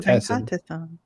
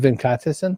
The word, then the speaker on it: Venkatesan: In my head, I'm saying Venkatesan or Venkatesan. No, Venkatesan. Say it again, Venkatesan.